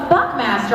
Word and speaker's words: Buckmaster: what if somebody goes buckmaster I go yeah Buckmaster rhymes with Chuck faster okay what